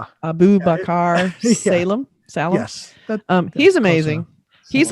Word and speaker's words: Abubakar Salim: Can you pronounce this name? Abubakar Salim.